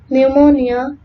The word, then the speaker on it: pneumonia: When letter P precedes letter S and T and N, it is not pronounced. For example, Sam, pneumonia, psycho, and receipt.